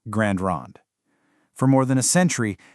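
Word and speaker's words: Grande Ronde: And just so you know, it's pronounced Grand Ron.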